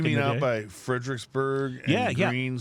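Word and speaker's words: Gruene: You mean out by Fredericksburg and Green spelled G R U.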